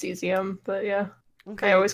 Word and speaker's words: cesium: table so it follows The Adventures of a kes iam and selenium right now it's actually pronounced cesium yeah okay always called HS you do call